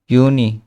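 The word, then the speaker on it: Juni: তো জানুয়ারি ফেব্রুয়ারি Mars April মাই ইউনি এখানে আমরা একটা জিনিস খেয়াল করবো সেটা হচ্ছে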